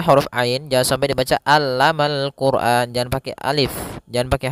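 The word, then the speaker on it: الْقُرْآنَ: maka dia akan dibaca dengan tebal bukan Quran tapi Quran allamal Quran Kemudian pada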